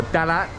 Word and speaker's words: Talat: I am in Thailand's biggest flower market, which I believe is called Pat Klong Talat, or Dalat as the Thais like to pronounce it.